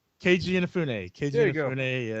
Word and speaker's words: Keiji Inafune: was help me if I say it wrong, Kija Inafune. Keiji Inafune.